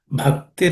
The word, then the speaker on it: bhakti: This bha has to be aspirated. Bhakti rasapana.